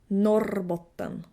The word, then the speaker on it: Norrbotten: The 2 northern thirds of Sweden are rolling the R. R. Norrbotten.